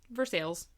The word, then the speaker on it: Versailles: look a Google map you know how that's pronounced ver sales of course it is of course it is